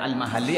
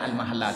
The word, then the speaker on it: Al-Mahalla: Tak tahu siapa yang benar, enggak tahu. Tapi ada yang baca Al-Mahalli, ada yang baca Al-Mahalla. Enggak ada harkatnya, enggak apa-apalah. Tapi kalau saya yang benar itu bacanya Al-Mahalla, tapi ada orang yang baca Al-Mahalli.